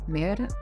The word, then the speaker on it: Mérida: Y sé que no lo estamos pronunciando del todo bien porque no tenemos ese acento español tan hermoso. Ellos lo dicen: "Mérida". Oh, no voy a intentarlo. Sé que sus erres son mucho más suaves que las nuestras y